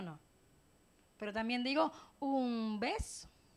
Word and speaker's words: beso: Si nosotros pronunciamos beso, es bilabial, beso, ¿verdad? Pero si decimos vaso, es más rosante. Beso. Si digo beso, lo digo beso, pero si digo vaso, queda como si fuera a pronunciar una V.